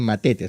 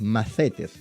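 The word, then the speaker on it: μαθητής: La palabra macetes se escribe m a t h. o se podría produir también matetes, pero en realidad es macetes, ya como con Z.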